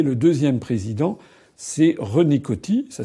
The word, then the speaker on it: Coty: Et le deuxième président, c'est René Coty. Ça s'écrit C-O-T-Y.